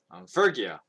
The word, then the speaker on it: Phrygia: Now Paul and his companions traveled through the region of Phrygia, that's how you say it, Phrygia and Galatia, having been kept by the Holy Spirit from preaching in the province of Asia.